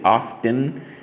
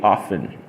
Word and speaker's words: often: I could say often often is a very interesting word we don't pronounce the T okay you don't say often you normally say often if I say that